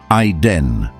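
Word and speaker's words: עֵדֶן: In Hebrew, it's written as ayin dalet nun, pronounced ayden.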